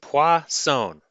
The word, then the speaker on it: Poisson: that word, it's pronounced "pwa-sewn." It's a French word meaning fish, so that's how you pronounce it. ♪ Les Poissons, les Poissons ♪ ♪